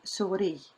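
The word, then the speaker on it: سوري: And the way you pronounce it, suri. When you see shaddi here, you stress.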